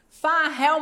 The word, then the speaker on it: Fahel: Farrell, alguém conhece Farrell?